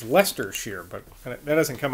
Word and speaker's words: Leicester: reynolds in leicester fields i'm guessing l-e-i-c-e-s-t-e-r so i guess that's pronounced lester fields dear sir when i